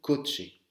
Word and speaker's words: coche: Donc en espagnol, quand vous voyez un CH, c'est comme si ça se prononçait TCH, d'accord? Ça, c'est une voiture. Il se prononce un coche.